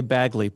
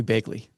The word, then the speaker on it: Bagley: Well, typically I say Baggley, but I have a lot of friends in Chicago and they they do call me Begley.